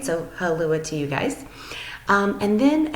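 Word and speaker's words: hallå: but they pronounce it halua, halua. So it's interesting because to me it almost sounds like aloha hula.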